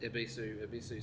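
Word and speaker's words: Yebisu: They're both actually pronounced Ibisu. So the Y is silent, is what I'm trying to say. But Yabisu beer has been around for since the late 1800s.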